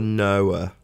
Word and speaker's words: Noah: and smoke it boilers is it nor or noah noah is how we pronounce it i don't know there's